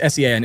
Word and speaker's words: Sean: Yes, it's S-E-A-N. It's spelled in the Irish way. Like Sean.